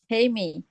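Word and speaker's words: hejme: Heime. Heeh. Jadi huruf huruf J itu bacanya kayak huruf Y.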